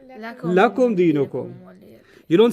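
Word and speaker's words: لَكُمْ: up on a pronoun, you can't say li. You say la. Okay, it's the same lam, harf of jar, But the only time it's pronounced la is when it's working on a pronoun.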